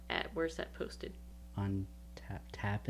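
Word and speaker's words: Tapas: where's that posted on tap tap is i think how you pronounce it t-a-p-a-s and it's speaking around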